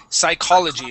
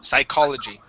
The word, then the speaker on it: psychology: psychology here it is psychology that's CH is a k sound psychology psychology um this here